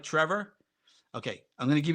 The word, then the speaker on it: Trevor: accent night days and folks in America have a really hard time in many cases pronouncing my name Trevor treasure is one of the abuses of the name Trevor just you know let me